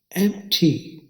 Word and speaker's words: empty: अब इसकी आवाज सीखते हैं। इसकी आवाज में एक आवाज तो एम्प की है, जो AM और P से बनने वाली आवाज एम्प। उर्दू में देखिए एम्प। और दूसरी आवाज टी और आई से बनने वाली आवाज टी। उर्दू में देखिए टे और ये टी, एम टी। इंग्लिश में एम टी।